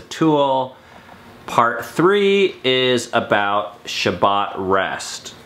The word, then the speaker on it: Shabbat: part three is about Shabbat rest Shabbat is the Hebrew pronounciation for the word Sabbath so it's kind of